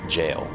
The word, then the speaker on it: gaol: I'm sure there's at least a few of you wondering why I've pronounced G-A-O-L as jail.